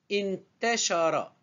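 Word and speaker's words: انتشر: In, ta, sha, ra. Je répète, in, c'est une syllabe avec soukoun, la ronde, la forme ronde. Ta, c'est une syllabe simple. Sha, c'est une syllabe simple. Ra, une syllabe simple.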